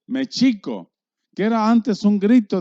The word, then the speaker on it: México: el nombre de méxico todas las palabras náhuatl son graves no hay agudas y no hay escrúpulos y su pronunciación real es méxico que era antes un